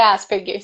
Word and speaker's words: Asperger: gosto de falar porque algumas pessoas falam as pernas e outro Aspen né depende do idioma que você tá pronunciando se foi em inglês é Asperger se for alemão é as pernas então a síndrome de